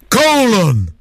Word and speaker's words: Colin: called Colin Powell except they don't pronounce it like that do they they actually make him sound don't they like a gladiator colon colon yeah Colin it's